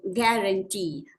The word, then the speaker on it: guarantee: And the correct spelling for guarantee is D, that is G-U-A-R-A-N-T-E-E. So guarantee means normally when you pronounce the word guarantee, you do not pronounce that U.